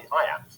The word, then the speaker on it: iamb: The word iamb is pronounced just like the phrase I am.